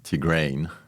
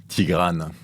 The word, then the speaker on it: Tigrane: Tigrane, if you pronounce it the French way or the Armenian way, since it's a name from Armenia.